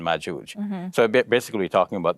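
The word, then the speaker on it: مأجوج: But in the Hebrew, the Jim is pronounced with, it's a hard G. So Gog and Magog, whereas in Arabic, it's the soft G, like in George. So it's Ya'juj and Ma'juj.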